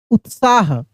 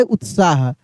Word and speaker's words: उत्साह: है उत्साह लिखा है यानी त आधा है और त का उच्चारण तेजी से होगा उत्साह उत्साह ठीक है ना देखिए कैसे लिखा है उत्साह अब वैसे ही कुछ